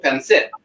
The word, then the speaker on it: pancit: So I'm half Filipino, half Italian, and tonight we're cooking Filipino pancit. That's how you pronounce it, by the way, white people.